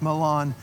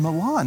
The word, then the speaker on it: Milan: the last video and they actually said it's pronounced which i've always pronounced it milan i've always heard it pronounced milan but they were local